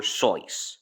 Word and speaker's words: Seuss: Soy. Yes, it's pronounced soy. The reason why it's pronounced Seuss is because the reason why people pronounce it as Seuss is because, well, it looks like Seuss.